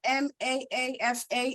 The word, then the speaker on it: Maafa: It says, could you explain what MAAFA is?